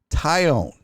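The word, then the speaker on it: Taillon: he'll have a nickname it is pronounced who gives a tie on really that's stupid that's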